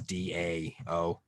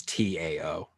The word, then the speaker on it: Dao: we'll transliterate it as d-a-o wade giles would transliterate it as t-a-o you're still supposed to pronounce it dao but people see a t and just say t so they say tao and then you have